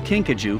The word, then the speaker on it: kinkajou: sneeze to remove the obstructions kinkajou the name kinkajou pronounced kinkajou actually comes to us from a native